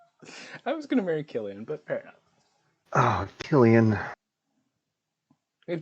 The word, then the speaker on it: Cillian: you have cillian wait is it sillian or killian how do they how do you pronounce oh killian it is killian that's right killian donovan fez merlin